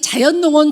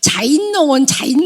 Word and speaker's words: 자연농원: 아시는 분들은 이제 예, 저희 딸이 자연농원 발음도 잘못해서 자인농원 그랬어요.